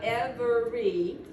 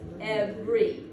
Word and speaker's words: every: It's not every like it looks, it's every. What I've done is I've cut out a vowel. I've cut out a vowel sound, so I've cut out a syllable because every syllable has